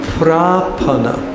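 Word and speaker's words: prapanna: go back to that that is called prapana with a long a propan and the other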